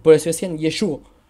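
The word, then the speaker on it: ישוע: Sensato pensar de que así decían los galileos que yo decía yeshua porque ellos no tenían la gutural y por eso decían yeshua yeshua o yeshua Y eso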